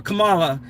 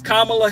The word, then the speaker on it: Kamala: We still have people out here who want to say Kamala or or Kamala. It's Kamala Harris. Say Kamala's name correctly.